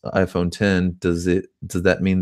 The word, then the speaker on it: iPhone X: he said so since the iPhone X is pronounced iPhone 10 does it does that mean that it's 10